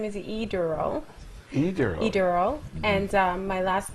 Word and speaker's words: Adele: You have to slow down and break that down in syllables for me. Okay, my first name is Adele.